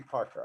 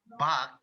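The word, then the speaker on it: 박: Tell me, how come a Korean last name could be Parker? I think that's Okay. In Korea, we pronounce it Bak instead of Park.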